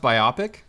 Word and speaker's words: biopic: no one says bio you haven't heard it pronounced biopic no biopic is uh sounds like an eye issue that would be bioptics but yes but it's like by it it's a biographical picture so it's a bio